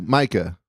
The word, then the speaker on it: Micah: So Micah, is that how you pronounce it? Yes, sir. Micah.